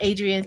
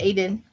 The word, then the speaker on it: Aiden: Not Adrian, it's Aiden. Yes, he was with I saw him with Johnny from Tarot Apprentice.